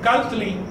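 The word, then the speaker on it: calli: Así que cuando decimos Cali, por ejemplo, casa, en realidad aquí hay una T que no estamos pronunciando. Es Cali.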